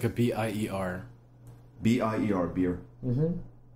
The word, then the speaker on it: Bier: It tastes like a B-I-E-R. B-I-E-R, beer. Mm-hmm. Not B-E-I-R. No, that'd be Bayer.